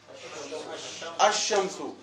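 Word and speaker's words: الشمس: अशमसु, लाम लिखा गया है लेकिन पढ़ा गया नहीं है।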